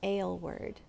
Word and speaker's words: Aylward: It looks like Aylward, but I have always heard it pronounced Aylward. So that's what I'm going to say.